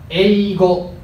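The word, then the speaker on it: 英語: えいご、発音はえいご。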